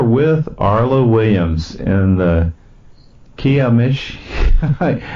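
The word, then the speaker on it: Kiamichi: I'm your host, Sam Ritchie, and we are with Arla Williams in the Kiamish. How do you say that mountain again? It's the Kiamishi.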